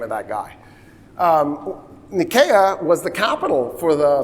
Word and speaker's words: Nicaea: So Nicaea is pronounced Nicaea. I'm going to not say Nicaea again for the rest of the lecture.